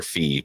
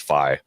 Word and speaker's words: Fi: Is this the beginning of I always called her Fee, but I guess her name's Fi. Yeah, technically it's Fi. Yeah, the pronunciation with the Japanese word that would be Fi.